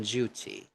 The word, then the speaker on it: duty: heavy consonants method three pronounce that t in Duty as T not as D not Duty okay remember the the t's